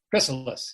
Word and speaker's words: Chrysalis: Chrysalis, yes.